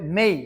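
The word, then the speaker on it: may: একটি এই প্রবলেম আছে মানে হচ্ছে কোন শব্দ যেমন ধরেন এস এই ওয়াই এটা উচ্চারণ হবে সেই বাট আমরা বলি সে এম এই ওয়াই এটার উচ্চারণ হবে মেই বাট আমরা বলি মেডি এই ওয়াই এটার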